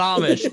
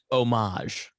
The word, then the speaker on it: homage: to pay homage yeah no it's not Amish Miss Pat listen to me very carefully here's how you say it homage homage yes moments homage